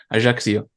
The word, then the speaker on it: Ajaccio: You actually said it right because I looked it up how you pronounce the city. So it is Ajaccio.